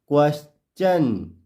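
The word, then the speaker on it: question: चन क्लियर हुआ चलिए उदाहरण से और अधिक क्लियर करते हैं जैसे क्वेश्चन क्वेश्चन क्यू यू ई एस टी आई ओ एन टी आई ओ एन इससे पहले क्या दिख रहा है आपको एस क्या दिख रहा है एस क्वेश्चन इधर हम इसको क्वेश्चन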